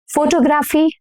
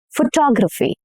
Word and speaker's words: photography: How do you pronounce this word? Determine? No, incorrect. Determine. Determine. Okay, this word. Photography? Photography? No. Photography.